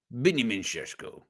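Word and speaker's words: Benjamin Šeško: Benjamin Sesko.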